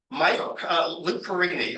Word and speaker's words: Perini: Lou Perini, I believe is how he pronounced his name, moved the Boston Braves,